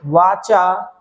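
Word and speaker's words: whatcha: वाचा you doing?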